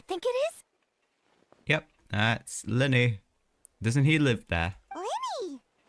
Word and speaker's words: Lyney: Yep, that's Lyney. Doesn't he live there? Lyney! See, I'm actually pronouncing his name right.